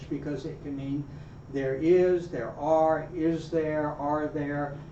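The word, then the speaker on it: hay: I so really useful but it's I not hey not hi but I I you say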